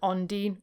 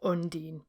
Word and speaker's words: Ondine: who this woman is she's an ondine or undine both pronunciations are fine and paracelsus actually invented